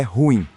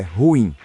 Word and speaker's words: ruim: No Brasil a pronúncia correta do ruim é ruim, certo? Aqui não, aqui o certo é ruim.